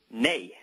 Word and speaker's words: nei: Nei. Nei, and how do you spell it? It's N-E-I. Okay, nay. Well, that's understandable over here, right? The yays and nays, and in this case, it's a nay.